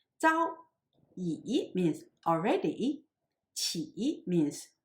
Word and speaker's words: 朝: Zhao also has two pronunciations as Zhao and Chao. Zhao means morning and Chao means dynasty, as in the phrase of Tang Chao or Tang Dynasty. Here it refers to morning, so it should be pronounced as Zhao.